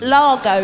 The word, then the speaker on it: Largo: Alberto Lego. Largo? L-O-G-O, I know how to spell it. Largo, yeah? Alberto Largo, not Lego.